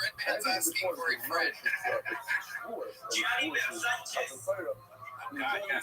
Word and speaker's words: Gianni: Gianni Sanchez. I can't spell that for us. Like Sanchez, but Sanchez. Okay.